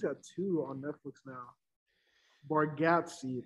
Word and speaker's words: Bargatze: Bargatze, that's how you pronounce it.